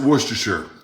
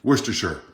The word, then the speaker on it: Worcestershire: with some worcestershire sauce i pronounce it worcestershire and i've got the authority to do so because my grandfather was from england worcestershire i mean nobody says new hampshire so why would you say worcestershire i don't care how